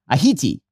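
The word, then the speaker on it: Ayiti: "Mamani pronounced the island's name Ahiti near perfect Crayole elocution."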